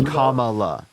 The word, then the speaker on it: Kamala: thing as literally right mispronouncing her name on purpose her name is Kamala that's not that's that's